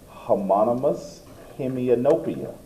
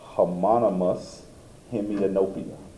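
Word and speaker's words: homonymous hemianopia: That's a term you want to learn to pronounce. Well, homonous hemianopia. That's what that word is. Hommonous hemianopia.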